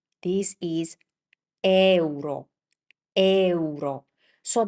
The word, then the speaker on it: euro: This is not euro. This is euro. Euro. So, the key here here is to pronounce the e and u like they were self-standing.